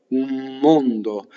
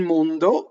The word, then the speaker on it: mondo: Notice that the O's in mondo are closed and that the N vibrates going into the D.